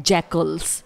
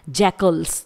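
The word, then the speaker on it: jackals: में अगला एनिमल है जैकल्स ध्यान रहे इसे हम जैकाल प्रोनाउंस नहीं करेंगे ये होता है जैकल्स जैकल्स मतलब गीदड़ या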